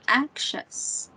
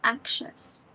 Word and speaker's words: anxious: one anxious anxious yes kind of like there's like um an invisible K here an invisible K so it sounds like anxious so that's how it's pronounced anxious anxious and then in